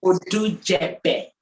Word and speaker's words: Odujebe: Did I get the pronunciation? Odujebe.